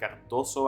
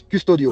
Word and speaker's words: Custodio: They have a couple of experienced players like Cardoso, I believe. Am I pronouncing it? Oh, Cardoso? The number 10. No. It's Custodio. Custodio, sorry, yes.